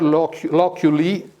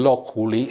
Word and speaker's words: loculi: Loculus singular, loculi, or actually loculi, it's a Latin, no, it's the American pronunciation. Loculi.